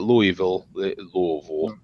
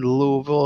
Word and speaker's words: Louisville: four was in Louisville you better say it right don't say it Louisville right Chucky and I